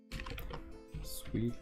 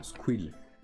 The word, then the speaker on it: Squill: Swill. Comme ça s'écrit ou pas? Non, Squill. Squill le rogneur.